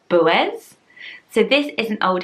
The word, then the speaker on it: Boaz: When I first looked at this, I would probably say Boaz, and just say it in one long go because it's the OA, but you pronounce it like Boaz, and then the AZ is more of an is.